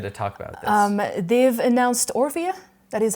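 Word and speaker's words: Orphea: yes I'm excited to talk about they've announced or via that is how you pronounce their morphia yes yes the first character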